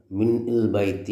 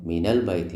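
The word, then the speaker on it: مِنَ الْبَيْتِ: ഇട്ടിട്ട് നമുക്ക് വായിക്കാൻ പ്രയാസമാണ് മിൻ ബൈത്തി എന്ന് പറയാൻ പ്രയാസമാണ് അപ്പൊ ശരിക്കും ഇത് മിൻ തന്നെയാണ് സുക്കൂനുള്ള നൂൻ തന്നെയാണ് സുക്കൂൻ ഉള്ള നൂൻ തന്നെയാണ് പക്ഷെ എന്തുകൊണ്ട് ഫത്തഹത്ത് ഇട്ടു നമുക്ക് ഉച്ചാരണം എളുപ്പമാക്കാൻ വേണ്ടി കാരണം സുക്കൂൻ ഇട്ടിട്ട് മിന്നൽ ബൈത്തി എന്ന് പറയാൻ പ്രയാസമാണ് അങ്ങനെ ഉച്ചരിക്കൂല പിന്നെയോ മിനൽ ബൈത്തി എന്ന് പറയുമ്പോൾ നമുക്ക് നാവിനൊരു ആ പ്രയാസം നീങ്ങി കിട്ടും അതുകൊണ്ട് ഉച്ചാരണത്തിനാണ് ആ സുക്കൂനുള്ള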